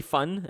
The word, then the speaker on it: van: Uh it's actually fun and it means surname.